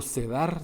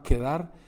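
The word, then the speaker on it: Cedar: Arabia y la tribu nómada de Quebar o Sedar se dice aquí, pero se pronunciaba quedar.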